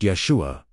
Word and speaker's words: Yeshua: The name itself pronounced Yeshua.